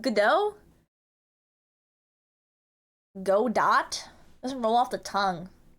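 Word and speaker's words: Godot: Go dot doesn't roll off the tongue. That's good. Dungeon creation tool. Whoa. Moto. Go dot. That's like hard to say. GDO. Like good day. Like Australia.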